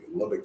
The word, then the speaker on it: Lubbock: shows or movies like django unchained or they pronounce it correctly it was in lubbock texas oh wow they did research on that